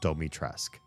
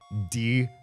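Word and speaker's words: Dimitrescu: That is her name in Romanian. And in Japanese, they up her name. And then they localized the name, the pronunciation of her name to the North American audience and they used their up pronunciation in Japan and used the in in the American localization they call her Doitraque. Doitraque. Her name is Ditrescu and they [ __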